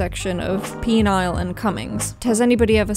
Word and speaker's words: Penile: Penile is pronounced by locals as Penile.